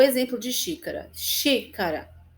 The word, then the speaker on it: xícara: Xícara, então, sempre assim, última, penúltima e antepenúltima, tá? Vamos ver, ó, o exemplo de xícara. Xícara. O xi é mais forte.